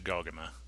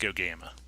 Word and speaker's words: Gogama: We had to leave Sudbury and make our way all the way up to Gaugama, which we later found out is pronounced Gogama.